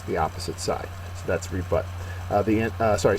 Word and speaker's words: rebut: is a verb uh second syllable is accented it means to offer